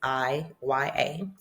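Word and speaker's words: Iya: see in Africa is I Y A in Nigerian I YA. So the I sounds like a E.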